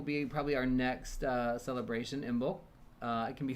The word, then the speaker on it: Imbolc: So February will be probably our next celebration, Imbolc. It can be said, some people pronounce it Imbolc without the B.